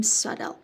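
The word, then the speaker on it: subtle: هستن یا نامحسوس هستن حواستون باشه توی تلفظ بی تلفظ نمیشه و میگیم سدل خب خودشم گفته که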